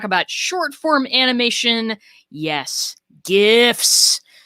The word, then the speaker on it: GIF: short form animation yes gifs listen hard g people it ain't peanut butter okay but before